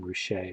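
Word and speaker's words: Ruscha: it's pretty effective okay here is an ED rachet painting that's how you say that last name rachet which is kind of I I remember when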